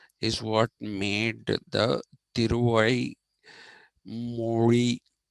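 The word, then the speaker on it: mozhi: tyui Mori uh m o zhi is not pronounced Mory but it is pronounced Mori so it was tiai Mori that uh is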